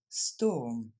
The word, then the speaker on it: storm: Au moins, lui, il s'écrit comme il faut, O-R. Storm. Les Français ont tendance à dire storm. C'est pour ça que je l'ai mis. Donc, storm.